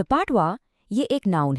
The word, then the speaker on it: patois: हमारा अगला वर्ड है पात्वा। द पाटवा यह एक नाउन है और इसका प्रोनाउंसिएशन है पैटवा।